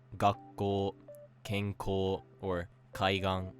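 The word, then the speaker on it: 学校: Again, because of how English works, there's a really strong inclination to say something like gakko or ginko, and learning to recognize that these are actually pronounced flat will instantly make your accent better.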